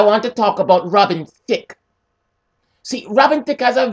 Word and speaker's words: Thicke: Thicke he's white yes thick his last name is thick which rhymes with dick which I haven't gotten since 1978.